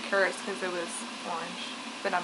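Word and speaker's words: は: It is, but when you use it as the subject marker of the sentence, you pronounce it wa.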